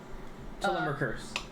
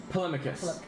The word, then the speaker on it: Polemachus: Telemarkers. Yep. That's good enough. Yep. Actually, it's Polemachus. Polemachus. Okay. I'm sorry for mispronouncing your name.